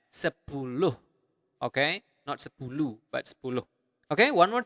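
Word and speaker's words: sepuluh: interesting to know also for 10 you pronounce the h at the end of the word so you really pronounce it as sepulog okay but okay one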